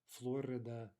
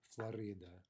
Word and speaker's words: Florida: i believe right okay so you can hear either stress there florida florida dakota okay so let's